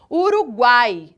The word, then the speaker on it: Uruguai: duas sejam mais fracas observem Uruguai o a ele é muito mais forte muito mais Evidente dentro do contexto de